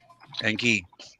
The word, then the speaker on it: Enki: believe that you know enki enki or enkai however you want to pronounce it is several times removed